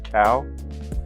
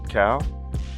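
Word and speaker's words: CAO: pronounce it right, cuz we probably pronounce this brand like three different ways. But, uh, Cow. Okay. Um, C A O. Cow. Ciao. Maybe. Okay. Cow. Chowo. Mau. I think we did a lesson on the pronunciation and those. Yeah. So, cuz the guy the guy at the cigar um joint said another name.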